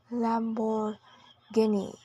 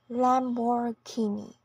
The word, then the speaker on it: Lamborghini: and next PR is Lamborghini in both American and British English with a stress on the third syllable again Lamborghini now let's talk about